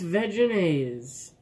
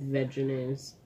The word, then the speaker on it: Vegenaise: how to pronounce this it's vegenaise it could be vegan ain't no it's vegenaise like vegetable I actually usually say